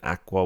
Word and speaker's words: aqua: You know, like when you used to get the connector pens, and aqua was one of the colors. Agua is water in Spanish. Not agua. Aqua, like the greeny blue, like How do you spell that?